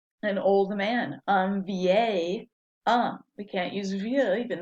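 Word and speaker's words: homme: about the letter h do we pronounce h in french no it's always silent so what's the word for man an um right h-o-m-m-e so if you see the word um it starts the vowel sound so it's not just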